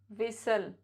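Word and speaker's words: whistle: एच का combination होता है तो भी टी साइलेंट होता है जैसे कैसल हसल बसल थिसल विसल नेसली यह कुछ वर्ड जिनम जिनके लास्ट में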